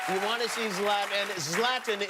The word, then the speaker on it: Zlatan: Zlatan is the correct pronunciation, yes?